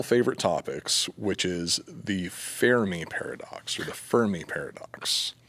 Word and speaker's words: Fermi: topics, which is the Fermi paradox or the Fermi paradox. What's the proper way to say it? Fermi? Fermi. Fermi. Is it French? Fermi. No, Italian. It's Enrico Italian.